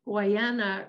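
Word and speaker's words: Guadiana: on the what hawaiian land i actually practiced pronouncing this it's uh guyana river and this river is about 700 kilometers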